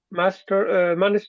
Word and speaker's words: monster: Monster and movie. Okay, and when you say monster, that has two syllables. Which syllable has all of the power?